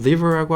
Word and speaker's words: river: 왜냐면 R 발음이랑 V 발음이 동시에 들어가기 때문에 그래요. 우리나라에서는 그냥 river 정도로 하죠. 근데 영어는요, river 하셔야 돼요.